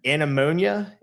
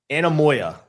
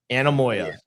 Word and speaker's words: Anemoia: to like a certain time, it's called ana- anemonia? Ana- anen- anen- hold on. Hold on. I'm like I dude, I had to look up the pronunciation. I was so Anemoia. Anemoia.